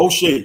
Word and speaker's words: Moshe: Moshe. It's Moshe, the commentator, like Moses.